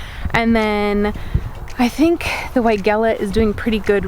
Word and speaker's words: Weigela: I learned incorrectly. So the person I bought it from called it Weigela, and that's how I pronounced it. And then the entire gardening community was like, no, that's Weigela. And I was like, oh, okay then.